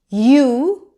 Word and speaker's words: ewe: You.